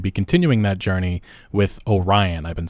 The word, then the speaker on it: Orion: are going to be continuing that Journey with Orion I've been saying it wrong throughout this video it's Orion not Orion anyway that is what we know